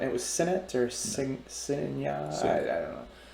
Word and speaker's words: Signet: just like that signet s-i-g-n-e-t how do you pronounce that segment okay i was i didn't know the g was silent it was senate or cincinnati i don't